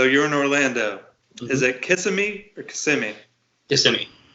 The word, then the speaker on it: Kissimmee: is it so you're in Orlando is it kissing me or Kissimmee just to me this is Kissimmee it's a lot of weird pronunciation sound here I still haven't gotten all